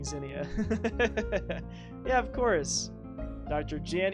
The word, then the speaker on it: Zinnia: I sometimes read it and I'm like, Zendaya. I'm like, What do you mean Zendaya? It's like, oh yeah, you're saying Zinnia.